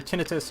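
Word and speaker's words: tinnitus: And for those of you who don't know it either tinitus or tonitis I pronounce it tonitis and it just means your ears are constantly ringing all the time.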